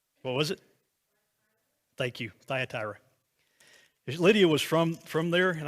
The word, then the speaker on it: Thyatira: I can't remember how to pronounce that. How do you say it? What was it? Thank you, Thyatira.